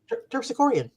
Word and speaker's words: Terpsichorean: It's spelled Terpsichoren. Terpsichorean.